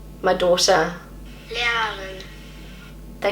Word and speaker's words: Lehrerin: This is how my husband pronounces it. Lehrerin. My daughter. Lehrerin.